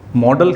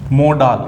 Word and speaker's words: modal: सबसे पहले आप देखें मोडाल, इसको मॉडल भी बोलते हैं अपन लोकली, और वैसे इसका प्रोनाउंसिएशन मोडाल होता है।